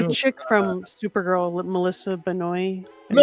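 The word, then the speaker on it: Benoist: Um, and in some of these classes I've had on Zoom, the chick from Supergirl, Melissa Benoi. Melissa Benwa. That's right. Benoa, however you pronounce it.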